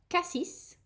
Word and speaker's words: Cassis: You have cassis.